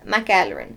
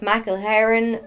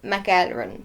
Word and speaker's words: McElheron: first name, so, and my surname, which nobody can pronounce, is McElheron, so McElheron. A lot of people pronounce it McElheron or McElheron, which I can kind of understand because of how it's spelt, but it's McElheron, like run.